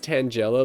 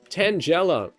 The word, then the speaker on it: Tangela: Kai says Tangela like tangerine. No, there's someone I know that said it like that, as in like rhyming with like Nigella Lawson, so it's never left my mind. Tangela.